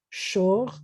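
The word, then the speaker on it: שור: This is sh with an O and a R. Shor is an or ox or a bullock.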